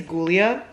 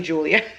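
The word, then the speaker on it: Giulia: it's gulia oh no I think I thought it was gouia but it's actually Julia it's literally pronounced Julia I don't know why I thought it was gulia it's because it's with a G it's G i u l i a and so I thought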